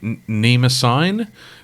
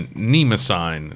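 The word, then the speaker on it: Mnemosyne: The Mnemosine, but it starts with an M, as in mnemonic.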